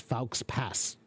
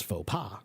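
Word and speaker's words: faux pas: That would be pronounced fals pass or fox pass. But no, it's fauxa because it's French.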